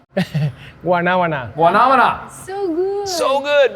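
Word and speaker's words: guanábana: If you can pronounce it. I can say soursop. I know how to say soursop, but guanamana? Guanabana.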